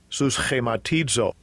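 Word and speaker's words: συσχηματίζω: Conformed, the pronunciation in the Strong's G. Strong's G, 4964. Suschematizo.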